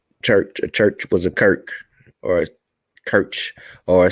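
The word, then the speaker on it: Circe: However, Cirque was in fact originally a Greek goddess where her name was written as Kirk and pronounced as such, just as in numerous similar cases of words of Greek origin.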